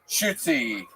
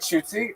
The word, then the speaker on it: Shootsie: One more time for Shoots, everybody. How do you say it? Shootsy. Come on, make some noise for Shootsy, everybody. Hi, guys. My name's Shootsie.